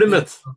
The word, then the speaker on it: Plymouth: That was in the Plymouth, you know, Yes, and then, Plymouth. And you yeah, pronounced it correctly.